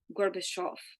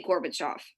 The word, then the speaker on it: Gorbachev: I mispronounce his name I know I did I think it's Gorbachev sorry but we say Gorbachev I know he starts